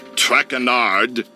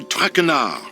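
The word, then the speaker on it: Trachenard: butchered while i eat as for my name not trackanard it is trackenar track renard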